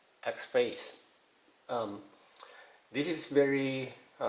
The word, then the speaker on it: XFCE: Okay, so XFCE, I'm not sure how to pronounce that, but some say that it's X-Face.